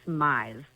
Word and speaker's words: Mize: It's Myes. There you go. as in like maximize, minimize, customize is what I always tell people.